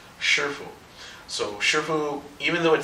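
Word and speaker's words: 师父: Shifu? Shifu. Shifu. Mm-hmm. So like her adding an S, and then like the Foo Fighters.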